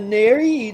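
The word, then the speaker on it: Néri: On the Neri, they've got a little slash over the E, so I don't know how that's supposed to sound. Oh, that would be pronounced like A-Y, like A.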